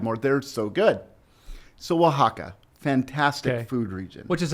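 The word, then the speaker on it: Oaxaca: right okay and it's say the name of it again Waka but that's spelled like o a o a x a CA well I think we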